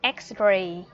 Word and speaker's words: X-ray: Đúng rồi, từ X-ray là một trong những từ rất là hiếm hoi mà chữ X, letter X đứng ở đầu câu mà vẫn được phát âm là X.